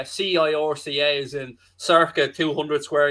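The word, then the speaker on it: Sorcha: My daughter's called Circa, and her name is spelled S-O-R-C-H-A.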